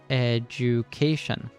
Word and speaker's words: education: The D is actually pronounced like a J. Education.